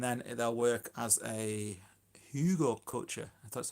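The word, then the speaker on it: Hugelkultur: By I would say April, May time, they should be good to start planting into, and then they'll work as a hugel culture.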